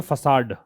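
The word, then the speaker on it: façade: इसका प्रोनाउंसिएशन है फसाड। Facet नहीं है फसाड।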